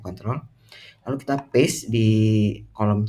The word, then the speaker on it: Ctrl: Ctrl Ctrl A conttrol itu adalah tombol yang tulisannya Ctrl dibacanya conttrol lalu kita paste di kolom C7 di sini.